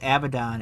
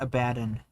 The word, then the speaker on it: Abaddon: So it is Abaddon. It's not Abaddon.